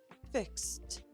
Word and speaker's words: fixed: Fix ends in an s voiceless sound. So fix becomes fixed.